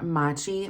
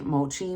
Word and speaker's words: mochi: of my being was I wanted to order Machi Mochi whatever on Amazon and I didn't actually it's pronounced mochi I didn't order it but I